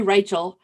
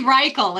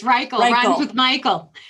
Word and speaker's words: Reichel: her name it's actually reichel it's rykel okay and i would have gotten that because my husband's name is michael she's a former school